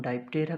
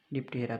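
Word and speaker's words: Diptera: इसको हम डाइप्टेरा भी प्रोनाउंस करते हैं या कुछ लोग इसे डिप्टेरा भी बोलते हैं।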